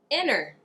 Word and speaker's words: inner: Sometimes we have a silent T when a T follows an N, but the syllable that the T begins is unstressed.